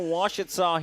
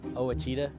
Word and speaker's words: Ouachita: up for Ouachita here in the top of the second.